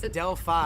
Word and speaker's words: Delphi: Delphi, can you right? say it one? It's Delphi.